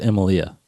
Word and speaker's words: Emilia: I've never heard her called Emilia, which is how it's spelled. Yeah, But I've always just said Amelia.